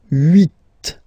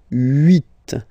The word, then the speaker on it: huit: Okay, then here final T is pronounced, so huit, huit.